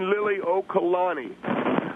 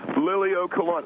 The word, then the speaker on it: Liliuokalani: Well, first of all, Phil, I want to just correct you on the pronunciation of Queen. The Queen's name, her name is Queen Liliuokalani. Liliuokalani.